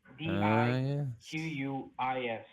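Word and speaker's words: Diquís: I'm Diquis, Diquis, with a accent on the last I. Diquis.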